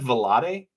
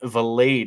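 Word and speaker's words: Vilade: your own Ryan H I've said velat what is it valade yeah Ryan valade is the proper way to say his name Willie May here CJ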